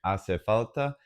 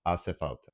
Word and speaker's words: hace falta: You have to remember, it's unnatural for English speakers, but the H is completely silent, it's just hace falta.